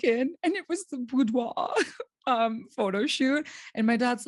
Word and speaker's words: boudoir: moments you feel like they're going to work, like when you see them at the boudoir. Is that how you say it? Boudoir Yes, photo shoot, boudoir, boudoir.